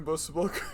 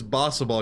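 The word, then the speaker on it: Bossaball: Did I explain Bosa ball? Well, first of all, I didn't even pronounce it right. It is It's Bossa ball because it's from Bossa Nova.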